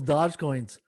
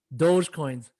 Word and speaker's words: Dogecoin: he was buying up all those dodge coins dogecoins i gotta gotta pronounce it right how you guys doing